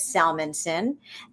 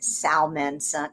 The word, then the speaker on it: Salmanson: is Salmanson and uh everybody mangles it and says Salmanson. Sal Sal Sal Sal Sal Sal Sal Sal Sal Sal Sal I can't even pronounce it wrong because I know how to say it right, but they're always going Salmonson. I'm always going Not Salmon, not Salmon.